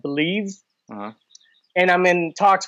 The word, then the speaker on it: BLEAV: I got hired back in September with this podcast network called Believe, uh-huh. and I'm in talks with another network for a basketball podcast. But Believe is spelled BLEAV, Believe Podcast Network.